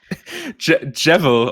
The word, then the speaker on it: Gevil: you to stop talking how do you say it jevel of course just like the witcher is geralt of riva our logic was that the g stands for like basically my name so yeah and i